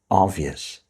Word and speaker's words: obvious: The next word is obvious. Remember, we don't normally pronounce the B here and we just say of obvious.